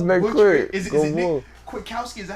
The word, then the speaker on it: Kwiatkoski: Is it Nick Kwiatkoski? Is that how you say it? Yeah. Kwiatkoski.